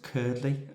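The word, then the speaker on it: Cuerdley: The next checkpoint, I think 21 miles, Curdley is how you say it, bold.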